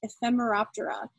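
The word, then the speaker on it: Ephemeroptera: is reflected in their latin name which is pronounced ephemera opera and it means short-lived because these animals when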